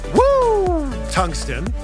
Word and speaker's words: Woo Tungsten: Actually, it's pronounced Woo Tungsten, because that's the sound you make when you catch a giant fish.